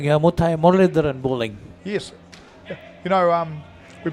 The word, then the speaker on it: Muralidharan: Talking about the bowler's action, Paul, to me it looks like Muthai Muralidharan bowling. Yes. You know, we both said the same name. He just pronounced it correctly.